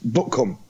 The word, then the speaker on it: Butcombe: That's how they spell it, but it's pronounced Buckham.